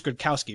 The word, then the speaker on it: Gradkowski: He gets hit hard, knocked out of the game, and then you get backup Bruce Gradkowski, right?